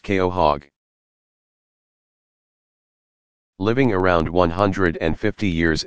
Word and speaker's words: quahog: very long time with a Quahog pronounced Keo hog living around and fifty